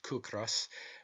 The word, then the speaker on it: ciocras: Such, for instance, are the Irish words ciocras, pronounced kukras, meaning hunger, and the word kis, pronounced kis, meaning rent. The Hebrew form of the first word is chikeo, meaning his palate, and the second word